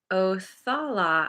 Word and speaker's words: Othala: Othala.